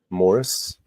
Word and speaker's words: Maurice: Maurice. How do you say it? Maurice. Morris. Yeah. Morris.